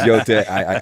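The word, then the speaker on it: Yōtei: It's Yote. I swear to God, I did read it, even though I mispronounced the name.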